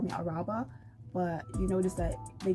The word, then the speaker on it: Araba: So my YouTube name is ARHBAH, which is a pronunciation spelling of my name, which is Araba. So, but people call me Araba.